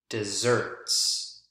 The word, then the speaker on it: dessert: that book on southwestern desserts desserts not deserts really dry climate deserts deserts notice the word stress on the second syllable as compared to the word stress here on the first syllable so if we're talking